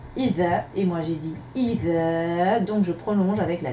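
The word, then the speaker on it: إذا: Comment dit-on quand en arabe? Idha, je répète, idha. Correction. Combien de syllabes? 2. I, dha. I, c'est la lettre alif avec la hamza et la kasra pour support. Dha, c'est la lettre dhal avec la fatha.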